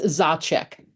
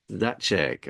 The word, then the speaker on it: Zacek: realized I didn't ask how to pronounce my guest's last name it's zachek zachek all right I am